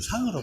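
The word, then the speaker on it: 向: 향 이렇게 되어 있지만, 이게 사람 성이나 이름으로 적용될 때는 상으로 발음이 돼요. 그래서 상퇴라고 보통 씁니다. 요즘은 그 구별을 안 해가지고 그냥 향퇴라고 하는 경우도 많은데, 원래 옛날에는 사람의 성으로 쓰일 때는 상으로 읽었어요. 향이 아니고 상. 그러나 뭐 요즘은 그렇게 구별 많이 안 합니다.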